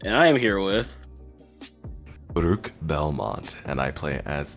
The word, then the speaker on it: Baruch: Yes, Baruch. Okay. Yes. Because that, God, I can never pronounce that name.